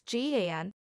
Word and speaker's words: GAN: sort one important question out how do you pronounce g-a-n thank you dr ian goodfellow we guess we